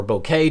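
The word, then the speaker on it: bokeh: is always key here I got this boka section or bouquet depending on how you like to pronounce it please don't send me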